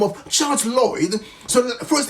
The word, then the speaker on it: Lloyd: the name of Charles Lloyd. So first name is spelled as you hear, so Charles, and last name is spelled Lloyd, so basically L-L-O-Y-D.